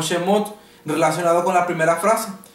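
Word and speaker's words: שמות: significa salida supimos que en el hebreo realmente se debe pronunciar y decir como shemot relacionado con la primera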